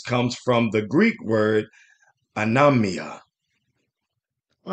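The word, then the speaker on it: ἀνομία: is what we have let's listen to the pronunciation Scrolls g458 anamia anamia anamia anemia is what we mean here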